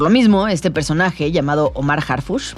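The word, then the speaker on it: Omar Harfouch: Por lo mismo, este personaje, llamado Omar Harfush, que se pronuncia casi igual que nuestro secretario de Seguridad, pero que nada tiene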